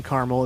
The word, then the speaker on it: Carmel: up in Carmel or if you live in Carmel it's pronounced Carmel for The fooleries oneyear